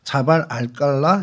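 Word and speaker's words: جبل القلعة: 암만 시타델이라는, 이제 그쪽 말로는 암만 시타델이라고 자발 알깔라 이렇게 이제 발음을 합니다.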